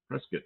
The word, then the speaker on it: Prescott: Prescott, yeah, I pronounced it right. Prescott.